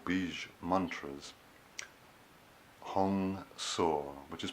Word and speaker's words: Hong Sau: inhalation and exhalation with 2-seat syllable bridge mantras Hong saw which is pronounced as hecho ng sa w this mantra